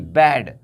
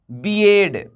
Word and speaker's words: bed: लेकिन आपका उच्चारण ये गलत है, ये सही क्या होगा, baby, BAD, बैड, बैड means बुरा।